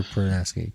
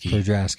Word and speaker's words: Podrasky: Prodaski. Chicks have smaller ears. So, how do you say your last name? Prodaski? Podrasky. Or Dr.